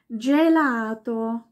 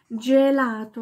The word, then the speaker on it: gelato: garniano am Gardasee garniano dann gibt es ein G wenn das vor einem E oder i steht wird es wie ein Jesus ausgesprochen ein ganz weiches da kennst Du ein berühmtes Wort Gelato was du sicher gerne isst Gelato wird ganz weich ausgesprochen oder justo justo heißt